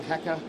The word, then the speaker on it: Hakke: forward to is the Haka weapons. So that's how you say it, Haka. Haka, we're having a huge culture war at Bungie right now. Some people are saying Haka, some people are saying Heka.